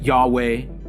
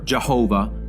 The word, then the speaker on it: YHWH: One of the very names God uses for himself is the YHWH, of which the exact pronunciation has been lost. Yet some pronounce it Yahweh or Jehovah or Yahovah.